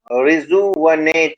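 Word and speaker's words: rejuvenate: इसका प्रोनाउंसिएशन, हाँ, रिजुवनेट होगा। वह जो मैंने यू लिखा है ना, वी यू, ये एक्चुअल में यू जो है, इसको आ के मात्रा के सेंस में लेना, छोटा आ, ठीक है।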